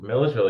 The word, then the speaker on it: Milledgeville: That's Milledgeville. You got it. Perfect. Milledgeville, and that is your overnight town as well.